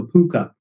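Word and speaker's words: púca: It's based on the Irish concept of a puka. So P-U-C-A in Irish, or I think it's spelled P-O-O-K-A, possibly in the film or the script.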